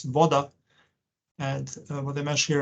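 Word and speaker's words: voda: here I mentioned that water in Serbian languages pronounced as Vada and what the mesh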